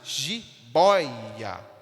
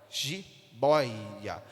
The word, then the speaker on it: jiboia: tonicidade da mesma forma a palavra Jibóia é a sílaba Boy essa sílaba boi que tem mais tonicidade jiboia jiboia nós temos Então esse ditongo